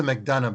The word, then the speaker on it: McDonough: hughes uh leadership and it's alexa mcdonough by the way you can drop the last syllable okay um so there